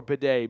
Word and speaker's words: Beatty: And Mike Kliss today said Beatty called his family, and his family told him it's pronounced Bidet.